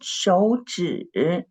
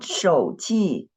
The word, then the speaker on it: 手指: 手指 quickly 手指 Samara Javid, what you wrote is 手指 it's not 指 it's 手指 the tone of the second syllable is 指 not 直 not 直手指 not 手机 this time what you